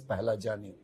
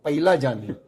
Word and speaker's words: Pahlajani: But somehow the people who hear my surname, they either misspell or mispronounce. I'll give you some example. Somebody call me Pahlajani. Simple. Very simple. I could tolerate that. Somebody used to call me Pailajani. Somebody call me Paglajani.